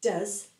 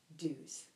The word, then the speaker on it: does: Here we add ES to the verb do, but we say does, not do's. We also add ES if